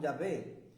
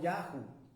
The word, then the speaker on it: Yahvé: vocal en otras palabras la denominación egipcia debe pronunciarse Como yahvé y no como yahu porque los edomitas lo